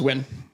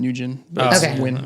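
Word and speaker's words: Nguyen: from you uh yeah her last name's win or ngui and people like pronouncing nugen yes yes she's very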